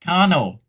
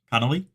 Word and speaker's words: Connell: It is Connell. Connolly? Well, if there was a Y, it'd be Connolly. It's Connell. It's Connell.